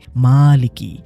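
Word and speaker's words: مالكِ: এই খাড়া জবরের কারণে শব্দটা হয়ে গেছে মালিকি। মিমের উচ্চারণটা একটু টেনে পড়তে হয়, আর এর অর্থ হলো মালিক বা স্বত্বাধিকারী, ইংরেজিতে যাকে বলে ওনার।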